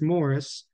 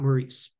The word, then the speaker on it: Morris: Morris Hawk and yes his name is pronounced Morris not Maurice U well he was